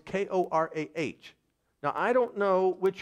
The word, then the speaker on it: Korah: Now, this next person who's identified here, in some King James Bibles, it is spelled C-O-R-E. In some, it's K-O-R-A-H.